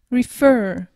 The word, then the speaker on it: refer: par un R et attention l'accent tonique il est sur la dernière syllable refer tu insistes sur Le Fur dans ces cas-là on